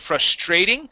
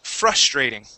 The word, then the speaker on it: frustrating: Okay, you had said frustrating. The stress is at the beginning of the word. Frustrating.